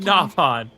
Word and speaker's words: Nopon: He said Nopon.